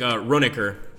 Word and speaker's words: Ronecker: Yeah, so I think Ronecker is the one I'm going to use. The original pronunciation. Well, I'm so tempted to call you Runacre.